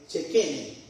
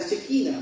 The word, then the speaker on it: Shekinah: Hay una palabra que en el idioma antiguo hebreo se usa y se pronuncia Shekene. Nosotros la conocemos como la Shekinah, pero la Shekinah es